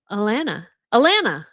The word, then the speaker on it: Alana: It's pronounced to rhyme with banana. Alana.